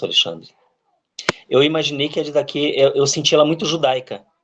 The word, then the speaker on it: Didaqué: Pois é, para mim a pronúncia correta é Didaqué, né? Porque ela tem um ri no final.